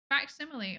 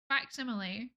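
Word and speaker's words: facsimile: So, I always thought it was like simile, but I I'm probably wrong. I don't know how to pronounce things. I can't speak. It's like the root of facts. Like fact machines. What? I've learned something today. Faximile. Oh my goodness. Faximile. That's wild. Why do I blur the two letters together?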